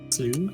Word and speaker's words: slough: Slew?